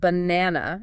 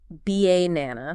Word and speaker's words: banana: If you stress the first syllable, it sounds off, like B-A-nana. G-E nana. But when you stress the second syllable, banana, Balonna. it sounds much more natural.